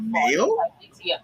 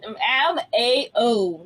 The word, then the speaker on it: Mao: This is the series that MAO, not MEL.